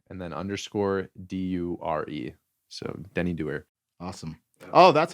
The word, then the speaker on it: Denny Doer: So Denny Doer. Awesome. Oh, that's how it's pronounced. Doer.